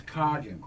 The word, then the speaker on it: Coggin: And it's Coggin. I called. Oh, you call I called and they answered the phone. So now I know how to like a pronounce cog in a wheel.